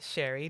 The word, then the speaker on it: Shari: i am so excited to have our guest sherry did i pronounce it right yep hi welcome hey how